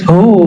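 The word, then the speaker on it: هو: la ilahailla hu ya Hu bacanya hu jangan Hua kecuali disambung panjang enggak Hunya lailahaillahu pakai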